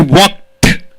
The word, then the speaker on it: walked: I walked. T pronunciation should come. Why? All T pronunciation. Why? K is unvoiced, P is unvoiced, SH is unvoiced, P is unvoiced. So T pronunciation should be given.